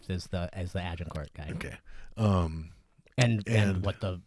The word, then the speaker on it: Agincourt: Agincourt.